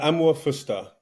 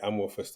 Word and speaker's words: Amuah-Fuster: by the way uh am fer however it takes VAR deviations uh but yeah am fer am's garan and fer is I think Swiss uh which I think